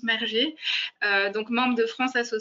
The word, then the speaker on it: Merger: Alors, c'est Alain Merguer que vous connaissez maintenant qui va animer ce débat, donc, ou Merger plutôt, hein. On prononce Merger, donc membre de France